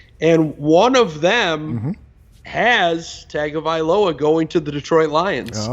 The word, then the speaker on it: Tagovailoa: I love the way you pronounce Tua's last name. You got that down. Tagovailoa. That's music. Yeah.